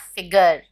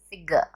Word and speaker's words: figure: figure no it's not figure it's figure figure the r is silent figure photography photography photography